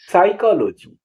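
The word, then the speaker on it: psychology: वाई सी एच ओ एल ओ जीी वाई साइकोलॉजी मनोविज्ञान एच ओ एन ओ यू are honour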